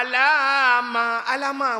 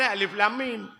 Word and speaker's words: Alif Lam Mim: Alif Lam Mim ditulis, mereka membacanya " alama alama," bukan Alif Lam Mim.